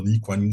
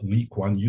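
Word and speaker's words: Lee Kuan Yew: other name that you asked me Linda to pronounce it correctly which is the Lew new school this is where I got my second masters from from it was on public administration uh the liwanu school leanu is the very historical the very well-known Singaporean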